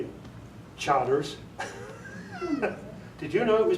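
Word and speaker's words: Chartres: But I didn't know it was Burgundy and Charters.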